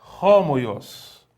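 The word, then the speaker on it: ὅμοιος: Algumas vogais, elas recebem uma aspiração em que você percebe que muda um pouco a maneira de pronunciar essa palavra que leva, então, à aspiração forte.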